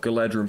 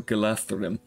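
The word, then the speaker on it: Galadhrim: He does come with a unit of Galadrum swordsmen, so you have both the Galadrum archers. Sorry, you pronounce it with a TH, so Galathrum.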